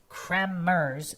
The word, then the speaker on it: Kremers: Chris Kmers, phonetically pronounced Kmers with a hard trilled R.